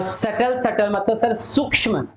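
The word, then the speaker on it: subtle: soft मतलब कोमल और सकल सकल मतलब क्या हो गया सूक्ष्म याद रखना सेटल का मतलब क्या होता है बेटा सूक्ष्म होता है सूक्ष्म फिर से एस यू बी साइलेंट है सॉफ्ट सॉफ्ट मतलब कोमल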